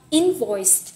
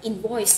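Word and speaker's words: invoice: bạn lưu ý nè cái từ này các bạn hay đọc nhầm thành âm 2 mình đọc là impoice nhưng mà thật ra nó sẽ Nhấn vào âm 1 mình sẽ đọc ít sự trục trặc trong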